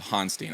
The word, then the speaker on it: Honstein: seen it in a million different ways so hanstein i appreciate you clarifying that for me yeah